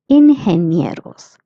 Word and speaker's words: ingenieros: GE is pronounced as he. That's why it's ingenieros.